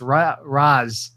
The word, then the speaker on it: Ra's al Ghul: So Nolan's Batman's not even Raj, it's Raz.